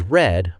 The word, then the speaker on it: read: Read becomes red. But we pronounce it differently.